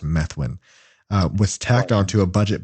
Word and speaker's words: Methuen: disoglio a Democrat from menthwin Methuen I think it's pronounced Methuen was tacked onto a